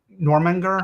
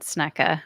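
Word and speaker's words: Jörmungandr: The world serpent, Normanger. Oh, Yeah, yeah, it's I would have gotten that wrong. I would have said Snecka or Snacka, something like yeah. that, but that's wrong.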